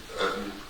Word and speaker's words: Utton: My name is Eden. Uh, last name is spelled U T O N is just like button, but there's no B.